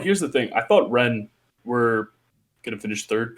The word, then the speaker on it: Rennes: there's Rene and last Rene, how do you pronounce it? Rennes.